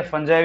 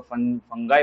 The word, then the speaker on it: fungi: Kingdom फंगाई या फंजाई भी बोल सकते हो या तो फिर किंगडम फंगी भी बोल सकते हो। ब्रिटिशर्स वैसे इसको फंगी प्रोनाउंस करते हैं, अमेरिकन इसको फंगाई प्रोनाउंस करते हो। यूजुअली हमारे जो यहाँ पे इंडिया में फंजाई भी बोला जाता है।